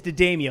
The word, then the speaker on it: Jadamiel: have here Audrey Jadamiel, and it is Jadamiel because I'm always watching that, listening to the PAs, and they're all saying it wrong.